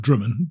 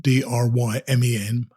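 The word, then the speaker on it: Drymen: going to stay at a place called drummond d-r-y-m-e-n i mean or dry men but drummond is apparently what it's how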